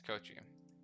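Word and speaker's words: Koichi: Rohan's pretty cool, as well as, hold on, yeah, Kochi, or however you pronounce, yeah, it's Kochi.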